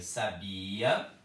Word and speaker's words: sabia: Então, eu leio sabia, sabiá, sábia. Verbo, substantivo, adjetivo. Sabia, sabiá, sábia. É diferente a pronúncia, é diferente o som, né?